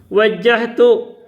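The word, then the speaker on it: وجهت: ini bahasanya Wah W Nah ini salah baca di sini ini di buku ini salah bacanya bacanya Wal ARD harusnya wajahtu Saya mau menghadapkan wajah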